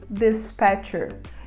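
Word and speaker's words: dispatcher: o despachante e a gente fala the Spector despector e uma aplicação da palavra desperterer de Teen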